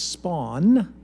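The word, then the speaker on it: Spaun: Its name is SPAWN, that's spelled S-P-A-U-N, and it makes human-like mistakes, has human-like accuracy, and takes human-like lengths of time to process information.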